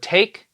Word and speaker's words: take: letter a and and the reason why a is able to say its name is because of the silent e at the end which jumps over makes the vowel say its name take next word is